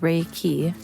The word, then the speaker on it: Reiki: universal life force energy reiki pronounced rey key involves the light laying